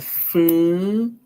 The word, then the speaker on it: flight: In a lot of English words, whenever you see GH comes after a vowel in the middle of words or at the end of words, most times it's going to be silent.